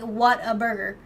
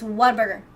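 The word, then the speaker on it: Whataburger: what burger but not you don't say it like separate it's not like what a burger it's what a burger like you say it all in one word oh that's true gifted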